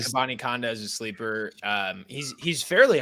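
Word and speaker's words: Abanikanda: Israel Abakadenka. That's not how you say it at all, but I'm pretty sure he's supposed to be fast. I remember seeing that somewhere, I think. Abani Kanda. There you go.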